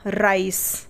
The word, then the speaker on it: rice: ठीक है, या जैसे RICE, तो यहाँ पर सी के आगे क्या है? ई है, तो सी का उच्चारण क्या हुआ? स हुआ, राइस। ठीक है, तो क्लियर हुई ये चीज़।